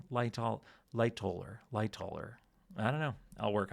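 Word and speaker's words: Lightoller: I I don't know where I got light holler from. Um but someone pointed out that I've been I say his name wrong every time. I never really noticed that. I guess I just Yeah. Lighter. Loller.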